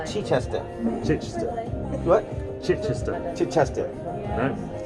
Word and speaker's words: Chichester: Chichester? Yeah. He said I said it wrong. Chichester.